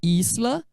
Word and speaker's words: Isla: Olá esla o Lair pronuncia como no português a palavra que eu trouxe como exemplo aqui ó Isla significa Ilha essa palavra é que tem um s aqui né Isla o s sempre atenção DS em espanhol é